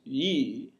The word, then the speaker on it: y: it has in english in swedish y is and always will be a vowel and it's pronounced yee now if you need